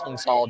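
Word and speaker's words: Cao: our nominee hung tall most people call Hung Cal it's just how we Americans talk I think technically you pronounce it Vietnamese hunga doesn't matter but the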